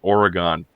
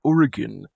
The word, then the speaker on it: Oregon: go to the Minnesota and hear people say Oregon let go I'm like and then I have to be the and then I have to be the one that goes actually it's pronounced Oregon I'm from Washington so I can tell you